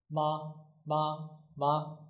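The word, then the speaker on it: 吗: This one is ma ma ma. It doesn't have a tone. It's a neutral tone. So we pronounce it quickly and shortly.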